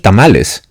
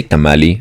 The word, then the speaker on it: tamal: I don't understand why tamali just don't pronounce the E you're like Japanese people